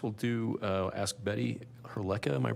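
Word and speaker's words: Hrdlicka: Um, next we'll do uh ask Betty Herlea. Am I pronouncing your last name correctly? Uh, yes. Herlea.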